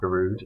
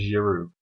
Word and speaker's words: Giroud: watched my face sorry I've been told off for calling him garud his name is Giroud Olivier Giroud which I will promise